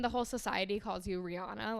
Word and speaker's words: Rihanna: And she pronounced her name as Rihanna. And I'm sure a lot of people have known this, but collectively as a society, pretty much almost everyone has been pronouncing it as Rihanna, including myself, for my whole life. So isn't that crazy that everyone as a whole has been pronouncing her name wrong?